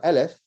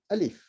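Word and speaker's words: ألف: as in alif right it's not aleph it's actually alif with an eye a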